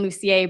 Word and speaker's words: Lucier: Um, I pronounce it the French way, Lucier, but the way you pronounced it is is just as well.